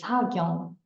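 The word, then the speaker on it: 사경: This is Hangul, the unique script of Korean, pronounced as Sagyong.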